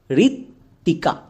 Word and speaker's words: ঋত্বিকা: তার আগে উচ্চারণ করো ঋত্বিকা, ঋত্বিকা। এখানে বইয়ের উচ্চারণ পাচ্ছি না, তার মানে বো এখানে সাইলেন্ট।